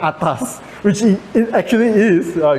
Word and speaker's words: Aetas: By the way, this project right uh is pronounced as itas and a e is essentially a Latin word. Okay, of course it might sound like atas which it actually is.